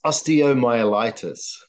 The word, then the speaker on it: osteomyelitis: So how do you pronounce that word I messed up? It's osteomyelitis.